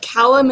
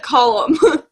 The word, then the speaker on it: Callum: Okay, so I was pronouncing it Tamara in my head and like Callum and Cal, but apparently it's like call, like column.